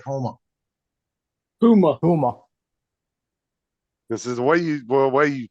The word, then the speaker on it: Houma: Huma. This is the way you pronounce it. It sounds like Homer, like Yeah. Homer. Yeah. That's the way Homer, Alaska is spelled, Homer. Down in Homa.